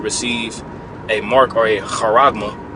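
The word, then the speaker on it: χάραγμα: a Mark or a harma harma that's how you pronounce it in the Greek uhma all right receive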